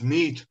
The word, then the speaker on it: Meade: I wondered if I pronounced that right because English isn't my first language. So it's Meade.